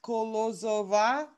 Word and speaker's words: Kolozova: the last name uh it's spelt phonetically so it's pronounced kolozova as it's spelled and the city is